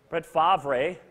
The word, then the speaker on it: Brett Favre: Brett Favre, if you, just in case you don't know how to pronounce it. Brett Favre.